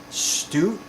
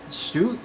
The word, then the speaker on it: Stoot: and I'm going to assume it's pronounced Stoot, S-T-O-O-T. I believe this, so I believe it's going to be a long O sound. Stoot, Amanda Stoot.